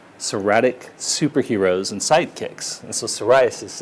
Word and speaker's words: psoriasis: superheroes and sidekicks so psoriasis is spelt with a silent p in front of it so we put that sound went pee in front of superheroes and the time with pee in front of sidekicks and have people dressing